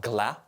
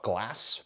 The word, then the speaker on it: Glas: a little more idiosyncratic it's called glap it's not called glass because um a lot